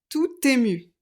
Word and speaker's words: tout ému: là j'aiécrit tut et je fais la liaison tout ému parce qu'on a une voyelle tout content il n'y a pas de liaison parce qu'il y a une consonne il est tout ému